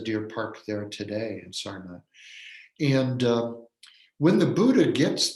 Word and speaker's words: Sarnath: There's no th sound in Sanskrit. So Americans tend to say Sarnath, but Sarnath is the pronunciation.